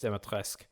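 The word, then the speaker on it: Dimitrescu: a nerd i am her surname demetrisk is pronounced demetrisk and it sounds kind of french to me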